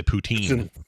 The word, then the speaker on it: poutine: It's poutine or something, right? Poutine. Yeah, we all say poutine down here. Yeah, poutine is not. It's poutine.